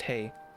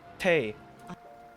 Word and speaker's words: Tewi: Tewi is not pronounced Tewi. Tay? How do you pronounce Cherry? Hold on, there's something here. Sorry, it's a bit loud. Bunny, how do I pronounce your name? They. Tay.